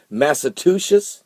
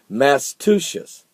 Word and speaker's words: Massachusetts: Is that how you say it? Massachusetts? No. Massachusetts. Massachusetts? Close.